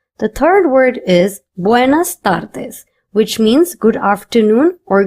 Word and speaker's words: tardes: Notice that I am not pronouncing the letter t in Spanish as stir. nor am I pronouncing the letter D as duh. In Spanish, these two letters are pronounced as tu and the respectively. That's why I'm saying buenas tardis and not tardis.